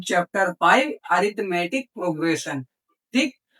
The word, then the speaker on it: arithmetic: इसको देखो बहुत से बच्चे अरथमेटिक कहते हैं। बहुत से बच्चे अर्थमेटिक कहते हैं। तो मैं उनको बता दूं यह अर्थमेटिक होता है। यहां पर आई जो है ये साइलेंट रहता है।